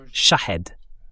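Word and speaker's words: شاهد: Le nom, la prononciation correcte en persan, c'est Shahed. Shahed, ça veut dire témoin, tandis que Shahid en persan veut dire martyr.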